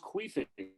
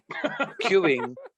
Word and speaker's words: queuing: Is it pronounced queuing though? I thought it was pronounced queefing. Queuing. No, queuing, my friend.